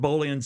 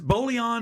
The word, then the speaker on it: Bolian: It would scratch Bolian's soul. It would. And to me, and is Bolian or Bolian? Bolian, but it's Bolian.